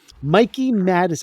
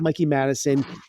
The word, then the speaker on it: Mikey Madison: that I didn't know Mikey madis I think it's Mikey Madison givs an Oscar worthy